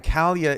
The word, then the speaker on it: Kalia: And Kalia is the correct pronunciation for all the broadcasters out there who don't know.